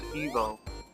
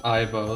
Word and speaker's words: Ivo: The dude who named the character in America actually intended for it to be pronounced as Evo, to sound like evil. Yeah, it's like, yeah, that's understandable, but like, even like the cartoons and stuff pronounce it Ivo, so that's how I usually say it.